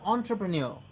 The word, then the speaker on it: entrepreneur: Sharma an entrepreneur or a salaried employee now what's an entrepreneur who has his own business please remember the pronunciation and listen to the pronunciation of this word entrepreneur entrepreneur yes entrepreneur